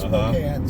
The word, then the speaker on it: Spokane: So, and before that we lived in Spokane, which is spelled Spokane, that is Spokane.